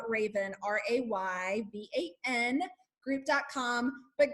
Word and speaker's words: Rayvan: the Raven group calm so it sounds like the bird but it's spelled completely different so it's Raven RA ybn group calm